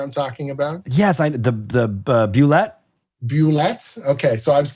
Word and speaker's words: Bulette: If it was Bulette or Bulette or Bullet or what, I have always said Bulette in my head.